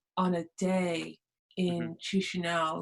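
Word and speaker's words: Chișinău: Teach me how to pronounce the capital. Oh, the capital. Yeah, so it's Chisinau. Chisinau.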